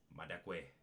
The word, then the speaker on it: Madekwe: I gotta pronounce that right. Archie Madekwe.